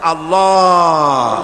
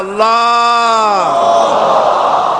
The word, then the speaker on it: আল্লাহ: আল্লাহ পাকের উচ্চারণটা হচ্ছে, আল্লাহ পাকের নাম উচ্চারণ হচ্ছে আল্লাহ। মুখটা একটু গোল হয়ে যাবে, বলেন আল্লাহ আল্লাহ আল্লাহ।